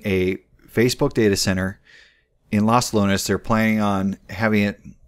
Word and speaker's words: Los Lunas: okay I said it right this time okay Los Lunas which is 45 minutes south of Albuquerque this